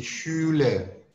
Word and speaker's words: Schule: SCH bacaannya seperti orang bersiul, di Schule, seperti orang bersiul.